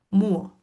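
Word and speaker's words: μύω: Que en realidad esa Y era como una U, ¿no? Se llama Y esa letra. Se pronuncia muo, ¿no?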